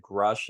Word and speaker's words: Grusch: yeah, Grush, or whatever you say, but David Grush is how people typically say it, but it's spelled Grusch, I believe.